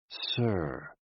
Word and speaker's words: si: associated with the heart s i pronounced like sir with a slow exhale which is associated with